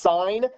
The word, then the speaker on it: sin: there's the button that says s-i-n is um pronounced sign put in the sign